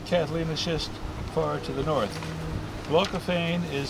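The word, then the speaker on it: glaucophane: from the eroded catalanishist far to the North glocophane is spelled and it's a blue it's a blue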